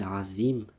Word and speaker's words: عظيم: Autre point souligné, bien sûr, le za. Faut pas confondre avec le zel. Anin naba'il azim et le za. Anin naba'il azim. Faire attention. Il y a une différence de prononciation.